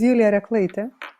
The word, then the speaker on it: Julija Reklaitė: Could you please pronounce your name correctly for me? So my name is Julija Reklaitė, and it's not a common name, especially the